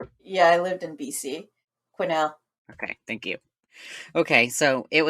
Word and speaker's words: Quesnel: She was donated to a museum in British Columbia that looks like it's pronounced Kesnel.